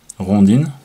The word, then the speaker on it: rondine: Alors ici, je vous présente le modèle rondine, rondine, si on prononce à la française, qui veut dire hirondelle en italien.